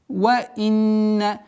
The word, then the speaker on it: وَإِنَّ: Итак, وَإِنَّ четкое ясное произношение огласовки кесра, удержание назализации в размере двух огласовок нун, وَإِنَّ потом четкое произношение фатхи,